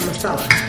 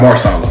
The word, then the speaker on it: Masala: Tikka Masala. Not Marsala.